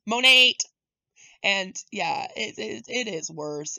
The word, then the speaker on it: Monat: Especially when you find out it's pronounced Monate. It's even worse. Yeah, apparently it's not Monat. Apparently it's Monate.